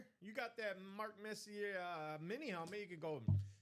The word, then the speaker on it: Messier: Speaking of I don't want to players, get autocorrect by Bobby out there because he'll tell me it's pronounced Messier.